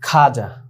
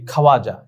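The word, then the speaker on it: خواجہ: পেশ খল সাকিন খোদ তারপরে খাজা দেখো খে ওয়াও আলিশ জিম হে এখানে আমাদের মন চায় যে আমরা এটা বলি খাওয়াজা কিন্তু না আমাদের মন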